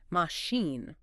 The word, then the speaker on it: machine: It looks like it should sound like China, but it's pronounced with an SH sound. Machine.